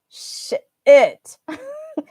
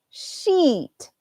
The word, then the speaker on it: sheet: sound e e and the bad ones usually have an i sound sh it and this is sheet b e it's a long e sound like P okay wait hold on so